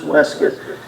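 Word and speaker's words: waistcoat: referred to as unless a compound word always pronounced and weskit and then my breeches these all taken together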